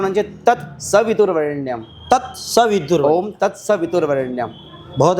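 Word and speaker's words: तत्सवितुर्वरेण्यम्: तो लगता ही है अधिकतर लोग तत्स वितुर वरण्यम बोलते हैं बल्कि वहां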